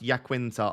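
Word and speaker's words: Iaquinta: It's pronounced Yaquinta after Vincenzo Yaquinta, former Udinese and Juve player.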